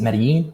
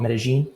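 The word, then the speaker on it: Medellín: I'm in medine Columbia most people pronounce it medine but here they call it medine you kind of pull those two lves together I'm down here visiting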